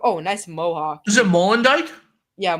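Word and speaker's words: Molendyk: Is it Molendijk? Yeah, Molendijk.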